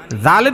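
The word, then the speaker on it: ذال: করে দিবেন তাইলে মানে জালের উচ্চারণটা একদম পারফেক্ট হয়ে যাবে জালের মধ্যে তিন আলিফ পরিমাণ টান দিবেন কেন জাল আলিফ জবর জালাম দুই পেশ লুন জালুন জালুন এরকম হবে।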